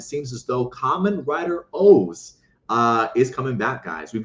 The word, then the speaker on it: OOO: So the fact that he calls it Kamen Rider O's, I'll take it.